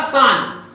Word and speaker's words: Ksan: मेघालय, मेघालय में 3 important mine है, उमरालोंग, मावलोंग और तीसरा सान, जिसकी स्पेलिंग है KSAN।